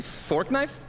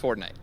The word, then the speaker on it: Fortnite: Did you say fork knife? It's actually pronounced Fortnite. No, I don't think so.